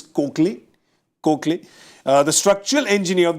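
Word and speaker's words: Koechlin: of Maurice cin and her is a little confusing to pronounce that she says it's kley kley uh the structural engineer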